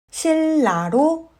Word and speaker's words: 신라: 그러면 앞 글자 니은은 르로 발음되고 뒷 글자 리을은 르로 발음합니다. 신라는 실라로 발음합니다.